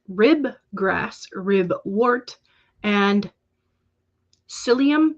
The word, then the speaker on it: psyllium: grass rib wart and psyllium but it's spelled with a p at the front like tsai um i don't